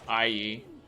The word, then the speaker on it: AE: AE? Is it IE? It's IE. It's IE, isn't it?